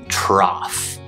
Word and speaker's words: trough: And the other one you'll hear it in is trough.